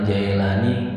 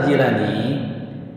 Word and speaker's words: Jailani: Abdul Qodir al-jailani ya Jadi yang betul dibacanya gila nih ya kalau Jaelani kayaknya orang Betawi ya jilat ya ini Syekh Abdul Qadir Al Jailani perlu kita tahu sedikit